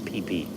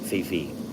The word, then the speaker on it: Phephe: It's spelled Phephe, but they call it PP, not Fifi.